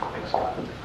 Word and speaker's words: Pixelot: I think that's how you pronounce it. Pixelot. Yes, you said that correctly.